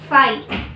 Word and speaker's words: phi: Subset this is 5 इज a subset of ए, ये एक sign होता है इस तरह से, इसको हम प्रोनाउंस करते हैं फाई, PHI, फाई की तरह प्रोनाउंस करते हैं।